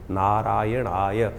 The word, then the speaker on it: नारायणाय: मंत्र का उच्चारण बिल्कुल सही होना चाहिए। कई बार लोग मंत्र का जप करते करते थोड़ी सी गलती कर देते हैं। नारायणा नारायण नारायण नारायणाय नारायण नाराय नहीं है। नारायणाय ओम नमो नारायणाय इस